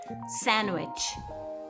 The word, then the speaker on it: sandwich: Inclusive, o E depois do N também é mudo. Wednesday. Wednesday. Sandwich.